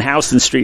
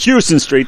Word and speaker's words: Houston Street: uh being down in Houston Street in a while because that's how they say it if you go to New York State Houston Street they know you don't know anything Houston Street and the runner-up for